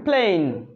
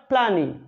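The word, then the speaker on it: plane: যেমন ই এর উচ্চারণ এখানে হচ্ছে না, প্লেন, প্লেন, প্লেন, নট প্ল্যানি, প্ল্যানি হবে না, প্লেনই হবে না, উচ্চারণ হবে প্লেন, প্লেন।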